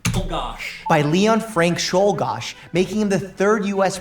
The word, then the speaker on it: Czolgosz: Shouldgosh. It's Czolgosc. Shoal. And speaking, he's Mike is Russian, so you'd think he'd be able to pronounce like an Eastern European name. Oh gosh. By Leon Frank Shulgosh, making him the 3rd U.S.